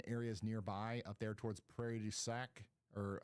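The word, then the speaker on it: Prairie du Sac: So Madison and areas nearby up there towards Prairie Dac or how do you say that? Prairie Ducac. Yeah, Prairie Ducac.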